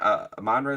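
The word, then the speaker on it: Amon-Ra: game uh this game and uh am manre am manre is how you say his name am manre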